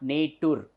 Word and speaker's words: nature: nature Church match nature so though there is only T here it is it is not nature it should be pronounced as nature though there is so